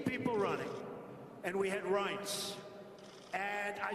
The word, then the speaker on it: Reince: And I said before, nobody knew how to pronounce his name. It's a crazy name. They called him Rance. Steve Wynn just called him. He's still not pronouncing it right, Steve. But Reince Priebus, now everybody pronounces his name right.